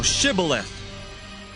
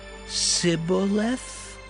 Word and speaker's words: Shibboleth: Then said they unto him, Say now, Shibboleth. And he said, Sibboleth? For he could not frame to pronounce it right.